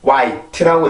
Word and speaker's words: white: 아직도 이렇게 화이트라고 읽는 경우는 많은데 지금 발음기호로 보면 H 발음은 소리가 없어요. 그래서 H 발음을 절대로 넣어서는 안 되고 white라고 읽어주셔야 정확한 발음이 되겠습니다.